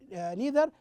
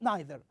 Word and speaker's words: neither: you we uh use we hear neither with another pronunciation. We hear it as neither. Okay. Did you hear it neither sometimes? Okay. That is the difference between the American English and the British English.